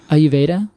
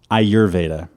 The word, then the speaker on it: Ayurveda: High by the way I forgot the r in ayurveda when I said it just now and I congratulated myself I get a big pat on the back for a mispronunciation are you Veda Aur Veda I think you did it right anyway I think I skipped over the r anyway um so if